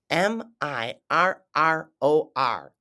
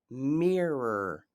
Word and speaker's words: mirror: but we pronounce it Mirror Mirror we pronounce the I like it's a e in American English and then the O